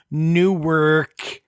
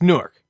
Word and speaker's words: Newark: there's no crazy but you can't say newor it's it's Newark got you just have